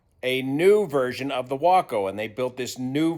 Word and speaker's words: Waco: Yes, it's pronounced Waco like taco.